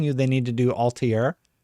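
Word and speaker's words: Altaïr: They're talking about doing an Assassin's Creed remake, and I'm telling you they need to do Altair. Or Altair, right? Altair. That's how they say it in the game.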